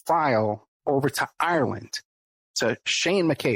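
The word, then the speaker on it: Sein: send the audio file over to Ireland, to Shane McKay. It's spelled S-E-I-N.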